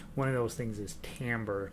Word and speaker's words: timbre: word you'll hear once while it's spelled t t i m b r e timber with the r and the e s flipped timbre and that tells you